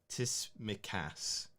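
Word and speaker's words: Tsimikas: see the message up there he said it's pronounced tis mikase hope that's correct kiss me kiss me cut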